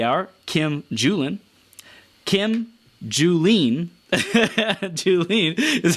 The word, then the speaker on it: Julen: Kim Julen, Julen is how it's pronounced, founder of Finding Your Fiji.